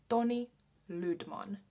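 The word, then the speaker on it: Toni Lydman: for finnish people so tony tony tony ludman is how i would say his name in finnish tony ludman the next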